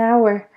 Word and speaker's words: hour: okay so an hour we do not pronounce the h hour so it's a